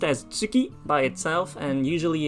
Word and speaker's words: 月: beginning it's pronounced as tsuki by itself and usually it's pronounced as getze or gatsa if it's in a compound word so together with other kanji um make sure that